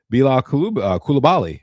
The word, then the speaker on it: Bilal Coulibaly: Bilal Coulibaly.